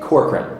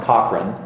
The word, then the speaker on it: Corcoran: do you say it corkran corkran Cor in Boston where I'm from it's Cochran and here in Florida it's corkran what do you prefer